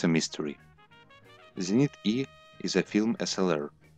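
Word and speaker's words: Зенит-Е: In Russian it is pronounced as Zenit E.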